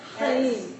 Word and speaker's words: Chaim: Chaim. I'll say it like Hebrew.